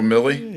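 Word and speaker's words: Milley: i'm going well one of the was it millie is it pronounced millie general milly yeah is that who the rhymes would silly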